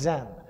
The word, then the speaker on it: Zen: religion called chan and chan in chinese got taken to japan where chan is pronounced zen so zen the real